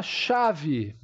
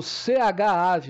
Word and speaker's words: chave: ch vamos a palavra chave chave Eu não falo ch ave eu falo chave então o meu ch aqui é representado por exemplo pelo fonema x a v e e